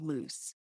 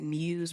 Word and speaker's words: Muse: how to pronounce it people always pronounced it loose but if you know what Muse really means it really